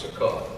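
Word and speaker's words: Succoth: back to say here Jacob however went to suak where he built a place for himself and it's actually pronounced Sak he built a place for himself the word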